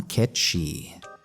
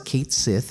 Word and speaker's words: Cait Sith: looks for is one Cait Sith. Yes, it's pronounced that way. I know he says Cait Sith in Dirge of Cerberus, but I'm pretty sure they'll revert to Cait Sith for the remake.